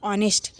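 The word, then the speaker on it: honest: आर आई ई S luxurious मतलब विलासिता आगे ऑनेस्ट एच ओ एन ई एस टी यहां पे एच जो है साइलेंट है इसको क्या पढ़ेंगे ऑनेस्ट ईमानदार ट्रुथफुल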